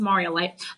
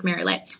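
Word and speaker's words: Marialite: Um, it is it is pronounced Marioite. Um, I don't know why my brain thinks Marilite, but anyway, it's very uncommon on the market.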